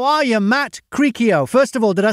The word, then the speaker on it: Cricchio: Cricchio.